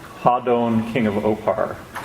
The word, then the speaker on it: Hadon: it will be called Hadon, King of Opar. It's a lot of people pronounce it Hayden or however people pronounce it. So Phil pronounced it Hadon. That was the Kokarsan language pronunciation.